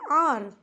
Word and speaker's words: hour: আর আর মানে ঘন্টা, যেটা 15 নম্বরে আমরা দেখেছি অ্যান আর, এটা কিন্তু হয়ের মতো উচ্চারণ এখানেও নয়, তাই এইচের উচ্চারণের সঙ্গে প্রাসঙ্গিকতা রেখে এখানে আমরা অ্যান বসিয়েছি।